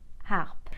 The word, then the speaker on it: harpe: H we call aspirated when the H is aspirated it is slightly pronounced and in front of an aspirated age I can't use the apostrophe like for the word harp as you can hear I said and not the H is not silent and so I